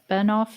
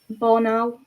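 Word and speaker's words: Bornauw: Um, I kind of feel bad um uh for Oh gosh, I can't pronounce his name. Straight. No, the other defender. Bernov. Borau.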